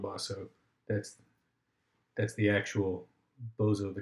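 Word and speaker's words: Boso: And his dialogue partner is a guy named Bozo. Okay, I think you're supposed to say Bosso, but I like to pronounce it Bozo, because that's just more fun.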